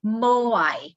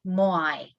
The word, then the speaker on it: Moai: Ahu is the pronunciation. And the statues are called Moai, Moai.